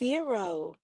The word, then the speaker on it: gyro: I said is it gyro or euro? They said it's euro.